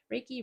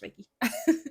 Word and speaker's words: Reiki: could I heard around Reiki therapy I hope I'm pronouncing it right Reiki Reiki I'm pretty sure it's Ricky some type of therapy that